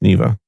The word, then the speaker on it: Neeva: is it yeah yeah it's pronounced Neva it's a Russian search